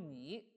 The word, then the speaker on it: 尔: 这个尔可以读成尔，也读成你，它的意